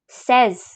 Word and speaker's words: seize: And here we have 16, which is called as seize. Seize. Then we have 17, which is pronounced as dix-sept.